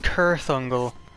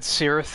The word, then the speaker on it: Cirith Ungol: I think it's pronounced Kirith Ungol. Kirith. I always said Cirith, that's how I read it in the books, but in that Shadow of War game, they refer to it as Kirith.